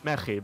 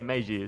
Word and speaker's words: Meji: I mean, in Spanish it's Mayhi, but I don't mind. How do you pronounce it? I mean, I let people in English say Meiji, so that's not a problem with me.